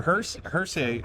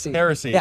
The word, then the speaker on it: Heresy: Yeah, I'm a sucker for walnut, but the red oak's pretty sweet because your Hershey uh I'm mispronouncing it. Heresy.